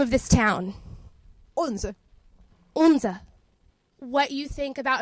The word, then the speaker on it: Odense: And last but certainly not least, how do you pronounce the name of the city? Odense. Odense.